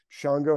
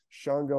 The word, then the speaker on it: Shango: His name is spelled, sometimes starts with an X, A-N-G-O, Shango, or sometimes S-H-A-N-G-O. They spell it different ways.